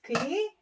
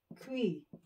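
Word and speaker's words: 귀: Ang ear is Ki. Okay? So, pag sinulat sa romanization is Ki. Okay? Kui.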